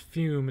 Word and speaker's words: FUM: FUM is pronounced fume.